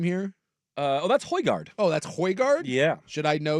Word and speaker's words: Højgaard: You want to try to pronounce old Rasmussen's name here? That's Højgaard.